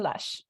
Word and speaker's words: Loesch: If I'm getting your last name wrong, is it Loesch? It's Loesch. I was so close.